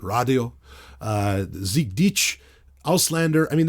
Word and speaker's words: Radio: It opens right up with Deutschland, and then there's Radio, but it's actually, Till Lindemann, of course, pronounces it Radio, Sieg Dich, Auslander.